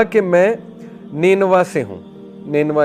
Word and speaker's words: Nineveh: تو ادس نے کہا کہ میں نینوا سے ہوں۔ نینوا اس کا تلفظ ہے NINEVEH۔ نینوا جو ہے یہ عراق